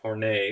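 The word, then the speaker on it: Horney: thompson and karen horn hornay is how you pronounce her name said womb envy uh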